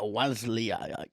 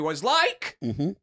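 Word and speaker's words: Wasylyk: __ ] doesn't it you've actually pronounced all the names wrong okay it's was like larry and frank plump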